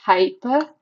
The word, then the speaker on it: hyperbole: Okay, it's pronounced as hyperbole.